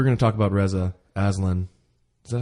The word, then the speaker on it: Aslan: We're going to talk about Reza Aslan. Is that how you pronounce his last name?